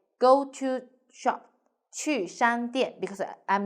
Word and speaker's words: 去: The word of the day is 去. In this video, I will teach you how to pronounce it, how to write it, and how to use it.